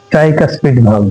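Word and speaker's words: tricuspid: এখানে যে কপাটিকা ছিল এটার নাম হল ট্রাইকাসপিডাইস টির আই ট্রাইটির সি ইউ এস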